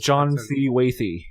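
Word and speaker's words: John C. Wathey: Next up, John C. Watty, is that? Am I pronouncing that correctly? John C. Wathy, yeah.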